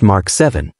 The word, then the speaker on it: VII: Sony has announced its latest flagship smartphone, Xperia 7, pronounced Mark 7.